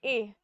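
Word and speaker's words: heir: Synonyms क्या इसके, ए, इसको हम प्रोनाउंस करते हैं ए, ठीक है, ऑलिगेटी एंड पे।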